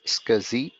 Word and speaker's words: SCSI: you might have scuzzy scsi is pronounced as scuzzy right and you may